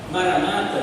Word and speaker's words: Maranata: pronúncia correta é essa Eu acredito que a pronúncia correta seja maranat você sabiam as palavras em hebraico em arama elas são oxítonas tem a última sílaba tônica né então maranat seria a melhor expressão a a melhor pronúncia perdão tá mas Maranata